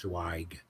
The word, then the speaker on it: Zweig: And my last name is Zweig. It's pronounced Zweig.